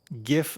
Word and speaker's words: GIF: GIF, like give, exactly. Give, gem. Well, actually, no, gem is a hard G. Sorry, gem is a soft G. Never mind. Not gem. Give, GIF.